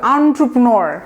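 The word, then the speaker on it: entrepreneur: এটা কিন্তু সবাই এন্টারপ্রেনিউর যে বলে, হ্যাঁ রে, এটা মানে কি যে ডিজাস্টার উচ্চারণ, এটা করবেন না, এটা ভুল। এটা একটা ফ্রেঞ্চ ওয়ার্ড এবং আপনার বলতে হবে এভাবে, এন্টারপ্রেনিউর।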